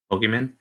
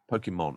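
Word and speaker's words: Pokémon: Pokemon? No, not Pokemon. Pokemon. Emphasize the mon.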